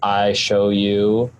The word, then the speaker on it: ISHOWU: It's called I Show You Audio Capture. It's spelled ISHOWU, like the letter U.